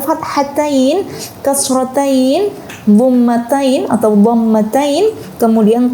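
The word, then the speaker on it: فتحتين: Jadi menyebutnya bukan fathatan ya teman-teman, tapi fathatain, kasrotain, dhammatain atau dhammatain, kemudian tasydid dan juga sukun.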